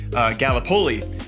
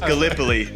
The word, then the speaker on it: Gallipoli: game right, because being from Iowa, I said Gallipoli, and it is pronounced Gallipoli.